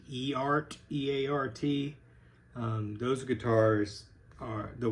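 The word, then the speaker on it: Eart: They should probably, for low-cost guitars, they should probably take some lessons from I think it's pronounced E-Art, E-A-R-T.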